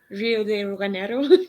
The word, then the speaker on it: Rio de Janeiro: Rio de Janeiro.